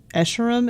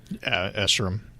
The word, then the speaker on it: Escharum: Is that the guy playing Escharum? Is that how you say his name? Escharum.